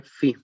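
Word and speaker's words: φ: Se escribe así y se lee phi.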